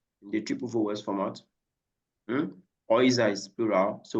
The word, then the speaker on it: Häuser: Häuser is plural. So when you have the A umlaut on U, it's pronounced like oil, just like the EU, oil.